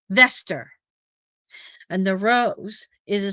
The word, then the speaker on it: Vesta: Besides his singing devil in disguise at the end of the film, the disguise name for Roseanne was Vesta Rose, pronounced Veester.